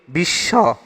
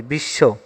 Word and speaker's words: বিশ্ব: সে কষেত্রে বর্ণটি দৃত্ত হবে যেমন যদি বলি বিশ্ব তখন এখানে স এর নিচে ব থাকলে সে তখন আমরা দুটা তালবসে উচ্চারণ করতেছি বিশ্ব কোন শব্দটিতে বফলা উচ্চারণ হবে না বফলা উচ্চারণ